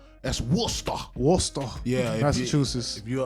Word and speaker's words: Worcester: pronounced Worcester. That's Worcester.